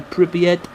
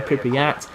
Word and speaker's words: Pripyat: It's probably Pripyat rather than Pripyat, which is what everybody thinks it is, but that's irrelevant.